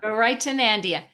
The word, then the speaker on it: Garaitonandia: And just a little note, the way that you pronounce it is like you're giving directions to somebody to go to a place called Nandia instead of Narnia.